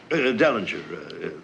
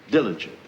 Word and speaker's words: Dellinger: defendant Derringer I think their honor means Dellinger Dellinger that's right Mr Dillinger said we must issue I'm going to get back to you Mr wittens I mispronounced the defendant's name you said diligent it's Derringer we were both wrong you mean